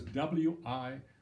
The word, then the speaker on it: Wirreanda: And somebody actually asked me how it's spelled. So it was W-I-R-R-E-A-N-D-A, Wirreanda, named after an Australian tree.